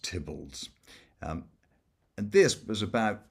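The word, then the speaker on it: Theobalds: This was um called Tibolds and it's it's spelled Theo Bolds but pronounced Tibbles.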